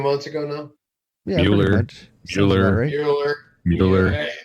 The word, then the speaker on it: Mueller: Mueller. Yeah, it's the Mueller report, not the Mueller report.